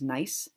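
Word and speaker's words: gneiss: we're gonna learn about is nice there is a G in it but it's silent G the next rock here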